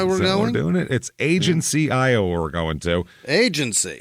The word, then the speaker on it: Agency: to look that up to make sure there wasn't some weird it wasn't like ageni or some some weird local pronunciation but it's agency it's in Southeastern Iowa